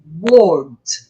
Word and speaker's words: world: Só que aqui tem um Lzinho e tem que lembrar que o L no inglês é um L bem pronunciado, porque no português o nosso L tem som de U, não é?